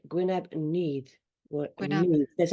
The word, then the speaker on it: Nudd: We've just had a discussion about the pronunciation of this because it's spelled Nudd, Yeah, but it's pronounced Neath. Neath. Neath. The double D Neath. is a Yes. the sort of sound.